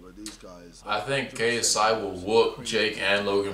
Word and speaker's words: KSI: He constantly says my name wrong. PSI, KFC, KGB, CSI, PSI, KFC, PSI, KSI. Yeah, Jake, you follow me on Twitter, and it clearly says my name on my Twitter.